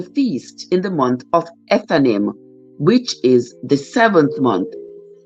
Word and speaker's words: Ethanim: And today we are learning that the 7th month, was Ethanim or Ethanim, however you want to pronounce it. It is Ethanim.